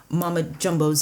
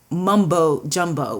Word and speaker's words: Mama Jumbo: And in that oracle, in that guidebook, Abiola shares how colonizers mispronounced Mama Jumbo's name callously and carelessly. And they started calling her Mumbo Jumbo, which came to be synonymous with gibberish.